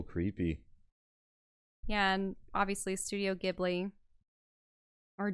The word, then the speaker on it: Ghibli: Yeah, and obviously Studio Ghibli. Or Ghibli, they pronounce it.